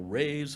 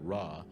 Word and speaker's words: Ra: and we are all rays of the great raw they used to pronounce it ray but we all pronounce it raw we are the rays